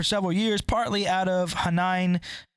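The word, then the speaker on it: Hainan: years partly out of Hanan or Heinen how do you say that h-a-i-n-a-n INE whatever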